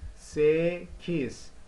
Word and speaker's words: sekiz: So here, sekiz, sekiz, sekiz, sekiz, sekiz.